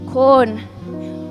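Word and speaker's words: Quorn: But it's it's pronounced the same. He smirked corn.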